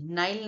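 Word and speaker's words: Nile: नाइल नदी इसको नाइल भी प्रोनाउंस किया जाता है। नील भी करते हैं। बट नील actually नील इज़ नॉट the correct pronunciation. आप जभी भी बोलिए आप नाइल बोलिए।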